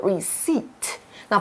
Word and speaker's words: receipt: Oh, Sarah 这边继续叫 Melanie, 她就说了 okay, 首先呢,我们需要在扫描这个收据上面的 barcode 条码到机器上面。那我们还看到 receipt 这个字，字尾的 p 不发音哦，我们念作 receipt。那 barcode 就是条码的意思，里面的 code 是密码。